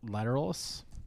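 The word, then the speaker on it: Lateralus: filler at all tools lateral lateralis yeah that's how you pronounce it I've never said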